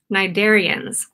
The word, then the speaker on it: cnidarians: Today, we are going to be talking all about cnidarians. Cnidarians have a very strange spelling. The way that their name is spelled starts with a C, cnidaria. Jellyfish are cnidarians, and so